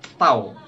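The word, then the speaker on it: ת: dan tulislah huruf Pou huruf t bacanya tahu pada dahi orang-orang yang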